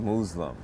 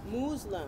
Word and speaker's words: Moozlum: And this is your first film, Moozlum? It's actually called Moozlum. Moozlum. You're supposed to pronounce the word Muslim, but I purposely misspelled